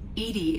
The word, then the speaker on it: EDI: airlock is a jar why are you named Edie Edie is the phonetic pronunciation of e di that is an acronym